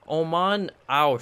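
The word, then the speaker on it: Oman Au: read these names right it's Oman our shrine that's how it's supposed to be pronounced but anyways let's examine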